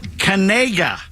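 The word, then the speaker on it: Knigga: got a three- star linebacker named Noah Noah Cana is how his last name is pronounced his surname is spelled k n i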